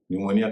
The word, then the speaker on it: pneumonia: पी भी एन से पहले खामोश हो जाता है, और ये कब होता है आप सब जानते होंगे, न्यूमोनिया। न्यूमोनिया PNEUMONIA। न्यूमोनिया का मतलब आप जानते हैं, फेफड़े की एक बीमारी होती है।